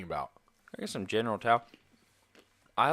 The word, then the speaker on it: Tso: How is the proper way to say TSO? Tao. It's Tao? General Tao.